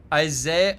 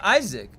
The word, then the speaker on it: Isaac: Isaiah. Oh, Isaac. Oh, Isaac. Did I say it wrong? Isaiah Azimov. What did I say? I said Isaac. Is it Isaiah? Is it really Isaiah? No, it's Isaac.